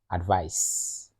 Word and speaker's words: advice: with s z sound let's look at the C the C does not have the z sound at the end but the sound should be s s that is a s sound s advice advice advice so we